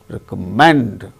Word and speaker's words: recommend: Recommend, third syllable gains stress in the case of the word.